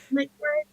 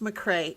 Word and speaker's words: McRae: McRae? It's actually just pronounced McCrae. It's as if you McRae. had dropped the A, but my father would be horrified if someone dropped the A.